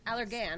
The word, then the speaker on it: Allergan: is a trainer for allergan is it allergan allergan right okay good i was supposed to ask